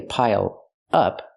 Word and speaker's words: pile up: Pronounce it like one word. Don't say pile up, say pile up.